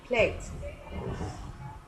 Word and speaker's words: played: Pero para los regulares, como en este caso el verbo play, que es regular, utilizamos simplemente la terminación ed y se pronuncia simplemente como una t. Played.